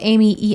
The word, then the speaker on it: Emigh: Coming from a person who spells Amy Emigh, I'm just going to put that out there.